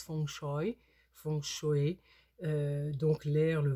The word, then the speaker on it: feng shui: vraiment basée sur le fchui qu'on prononce F choy font chauer donc l'air